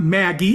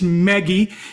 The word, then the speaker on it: Meggie: So let me just spell it, because Meggie's name is not Maggie, it's Meggie.